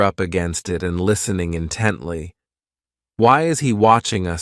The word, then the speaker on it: intently: This adverb has 3 syllables, and the stress is on that second syllable, intently.